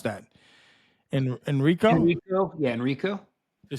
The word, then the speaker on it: Enrico: In a related case, the court sentenced another German suspect identified only as, how do you pronounce that? Enrico?